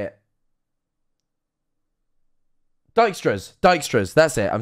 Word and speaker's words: Dijkstra: about it now how do you say it dijkstras dijkstra's that's it i'm saying it wrong dijkstra's